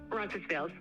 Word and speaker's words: Roncesvalles: Roncesvalles.